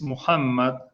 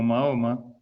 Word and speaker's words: Muhammad: la línea de ismael es muhammad más mal pronunciado y mal mal alterado como mahoma que es una deformación en cambio inglés dice mohamed en francés y mohamed demás más cercano al original o jamás significa el